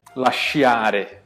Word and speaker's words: lasciare: caso aqui, ambasciatore ou lasciare, tudo bem? O I não é pronunciado, ele faz parte para formar esse som. Então você fala diretamente cha, e nesse caso aqui você fala diretamente cha.